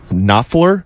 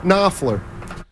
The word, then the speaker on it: Knopfler: Mark Knopfler? Correct. Mark Knopfler. Dire Straits. Have you ever heard of Dire Straits? Starts with a K, though, so that K, silent K, threw me off.